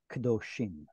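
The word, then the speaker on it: קְדֹשִׁים: But because of the im and the shift of the accent, that's going to cause this kamatz to drop to a shva in an open, unstressed syllable, kadoshim.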